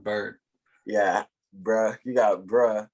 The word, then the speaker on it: Byard: I think it's pronounced Bird.